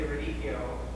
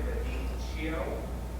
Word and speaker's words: radicchio: Yeah, you don't almost feel the final I because we cut it down, but it's radicchio with one D, just one D.